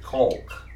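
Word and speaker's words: caulk: I guess I should pronounce it colk.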